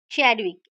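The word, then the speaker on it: Chadwick: तो ई से electron, T से थॉमसन, पी से प्रोटॉन, आर से रदरफोर्ड, एन से न्यूट्रॉन, च से चैडविक। प्रोनाउंसिएशन है चैडविक, बट हम च से याद रखेंगे, चैडविक।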